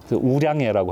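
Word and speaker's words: 五粮液: 우량예라고 하는 게 있잖아요. 우량예하고 수정방이 되게 같은 레벨로 치거든요. 마오타이는 좀 넘사벽이고 오룡액이라고 하는 게 우량예인데 중국 발음으로 이거는 이제 거기서 나온 미니어처예요.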